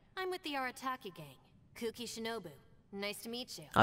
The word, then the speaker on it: Kuki Shinobu: Kuki Shinobu. Nice to meet you. Oh, that's how you pronounce the name. Kuki. So I was kind of right.